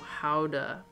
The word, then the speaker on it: Gouda: Gouda is pronounced Howda. If we're getting real technical.